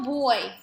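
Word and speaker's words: voy: It's going to be yo boy, all right? It's spelled V-O-Y, but because in Spanish the V's are pronounced as B's, we're going to say boy, like a little boy, little girl, little boy, okay?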